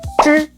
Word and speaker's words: 知: 知 A lot of learners pronounce it like z or ji, but it's actually somewhere in between. Think of the English George or the French je, but with your tongue curled up a bit and your lips relaxed.